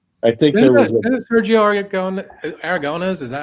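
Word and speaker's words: Aragonés: You know, I think there was Sergio Aragones.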